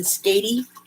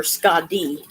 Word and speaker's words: Skadi: To me, Skadi sounds better than Skady. Skady sounds like some horrible skin disease or something. It sounds insulting. So I will call her Skadi, but she is like a winter goddess.